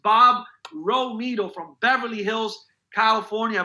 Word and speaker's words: Romito: That's pronounced Bob Romito from Beverly Hills, California.